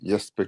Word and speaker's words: Jesper: is he actually because obviously they do say y instead of the j but i